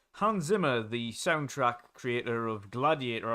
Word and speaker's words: Hans Zimmer: Hans Zimmer is actually how you pronounce it properly.